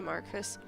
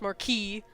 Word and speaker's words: Marquis: during the night when the Marcus Marquis hate when people say that wrong but technically it's supposed to be pronounced Marquis the only person in possession